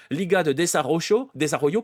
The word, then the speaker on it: Liga de Desarrollo: On avait prévu au départ de l'appeler Liga de Desarrollo, pardon, je vais le prononcer à la mexicaine, ligue de développement, hein, concrètement.